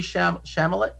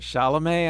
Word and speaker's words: Chalamet: was i actually thought timothy shamalet i can never say his name right chalamet i think timothy chalamet uh i i liked